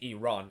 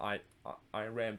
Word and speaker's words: Iran: i did it again it's actually pronounced iran and not i i ran but it all all